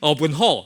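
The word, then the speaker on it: Aw Boon Haw: Aw Boon Ho, right? That's a Hokkien pronunciation.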